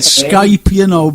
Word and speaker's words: Skype: my first time on Skype as well, Frank. Oh, is it? I'm glad you said Skype, because I'm glad you spelt you came out with the right pronunciation with the K, because some people get,